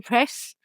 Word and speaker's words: Planpraz: The Z and the L I think are silent.